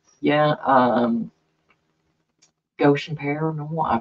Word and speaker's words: Goshen: Yeah, Goshen Paranormal, I probably said their name wrong, and they got mad at me, but I know it's looks like Goshen.